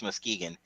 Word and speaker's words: Muskegon: that's how you pronounce that, Muskegon? Yep, Muskegon, I Michigan.